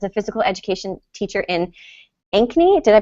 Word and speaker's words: Ankeny: So Jodi Larson has spent the past 9 years as a physical education teacher in Ankeny. Did I pronounce that correctly?